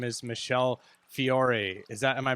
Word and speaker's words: Fiore: in the government and her name is michelle fiore is that am i pronouncing it correctly you are so in italian